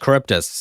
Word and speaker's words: Charybdis: Charybdis, thank you. That's how you say it.